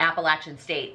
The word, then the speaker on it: Appalachian State: Tennessee somewhere around there she was cheering for Appalachian State which I know that's I learned from her that's how you pronounce it when they were like beating people